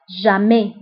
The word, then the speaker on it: jamais: ضدها أبدا أو jamais. دائما toujours. ضدها jamais. هنا أيضا toujours و jamais كنكتبوها بأس في آخر الكلمة ولكن لا تنطق.